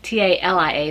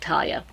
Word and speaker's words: Talia: Talia, which is Talia, not like Talia.